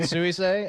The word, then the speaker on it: Suisei: The other one's like Susie, but more complicated. Exactly. It's more Japanese.